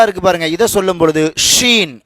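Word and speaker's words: شين: பாருங்க இதை சொல்லும் பொழுது ஷீன் ஷீன் நல்லா காத்து வரணும் ஷ் இந்த உச்சரிப்பு வரணும் சரிங்களா ஷீன் சாது சாது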